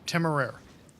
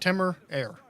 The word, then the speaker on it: Temeraire: You say it Temeraire. So like Timor Air.